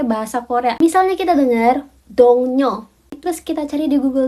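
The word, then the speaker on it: 동료: Sebenarnya dongnyo itu tulisannya itu dongrio.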